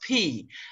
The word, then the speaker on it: Peay: p everybody says it's different but it's it's pronounced p that is the the the family that held